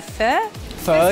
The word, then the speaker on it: Pho: you guys have and I'm terrible at pronouncing this a fur fur yeah that's right that right that's exact gave me a trick to go make it like a question like fur fur Festival fur Festival tell us all about